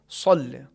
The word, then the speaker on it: صل: محمد۔ اللہم صل علی سین کے ساتھ نہیں پڑھیں گے بلکہ صل علی۔ بعض افراد اس کے تلفظ میں واو یا پیش جیسی کیفیت لاتے ہیں، صل صحیح نہیں ہے، واو کا تلفظ یا پیش کی آواز نہیں آنی چاہیے۔ ہاں جو زبر ہے اسی زبر کو ہم بھاری انداز میں یا پرحجم یا تفخیم کے ساتھ ادا کریں گے، یہی تلفظ صحیح صاد کا ہے۔ یہی حرف صاد سورہ